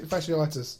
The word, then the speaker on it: fasciitis: Oh, plantar fatti fasciitis.